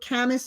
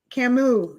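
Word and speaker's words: Camus: She says um Albert um Camas or Camas, I don't know how to say it, was a French philosopher. He she considers most of his work to be existential. Who said this? Camu. Camu is how you pronounce it.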